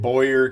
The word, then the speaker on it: Boyer: And I always get Boyer confused with Booyer because I'm related to some Booyers, and he pronounces his name Boyer. So that's always thrown me off.